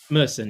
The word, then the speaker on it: Merson: Paul Merson says Paul Messen, how do you pronounce that? His last name Meren. Merson. Yeah. Paul. Merson.